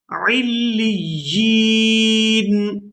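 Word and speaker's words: عليين: کلا ان کتاب الابرار, کلا ان کتاب الابرار لفی علیین, علیین. اس لفظ کے ہجے اس طرح سے ہوں گے, عین لام زیر عل, لام یا زیر لی, علی, یا نون زیر یین, یین, علیین, علیین. وما ادراک ما علیون.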